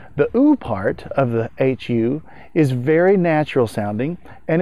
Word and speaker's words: HU: another syllable that is not as well known it's spelled h u and it's pronounced hu here are some of